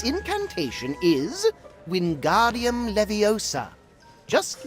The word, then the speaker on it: Wingardium Leviosa: fly its incantation is wingardium leviosa just like this when guardium leviosa pay attention to your pronunciation it's wind guardium leviosa remember make the gar nice and long also the wrist movement